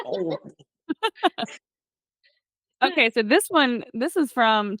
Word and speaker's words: Horry: yeah, see people pronounce it Hori. It's not. Oh, okay. It's Ori.